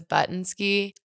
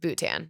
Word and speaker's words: Bhutan: Also, I literally thought it was Buttnski. Everybody does. I know, until like boot tan, basically.